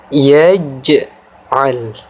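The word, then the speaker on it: يَجْعَل: Maka huruf jim yang berharokat sukun di sini kita baca dengan cara memantul, tapi dengan pantulan kecil atau tipis. Ya. Jadi cara membacanya yaitu yaj'al.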